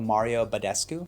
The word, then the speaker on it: Mario Badescu: is this drying lotion by a brand called mario badescu that's how you pronounce it at night after cleaning your face